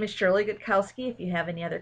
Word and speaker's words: Gutkowski: the same about it my name is Shirley good Kowski if you have any other questions you can